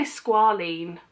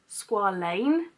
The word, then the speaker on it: squalane: It's their, people say squalene, but it's not een, it's ain, squalane.